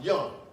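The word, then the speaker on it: Jung: Sigmund Freud and Carl Young it's not junk y'all see it it's j-u-n-g but it's pronounced Young and they said that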